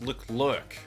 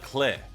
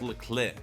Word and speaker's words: Leclerc: and another thing is his name's actually not pronounced look lurk it's Lair it's French right so I've been